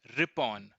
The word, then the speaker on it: Ripon: in district towns nine point four point two rippen pronounced r.i.p o n Lord Layton was succeeded by